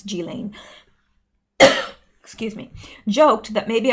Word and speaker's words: Ghislaine: jillaine I found out her name's not pronouncing Ghislaine it's G Lane excuse me joked that